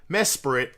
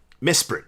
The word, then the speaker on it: Mesprit: Celio, Mesperit, or Mesrite, Mesprit, I think would be a better way to pronounce it. It's got no E.